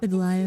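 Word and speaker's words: Aglaea: Hyacinth, thank you for taking care of the Thank you for telling us how to pronounce it, Aglia. Oh, Aglia.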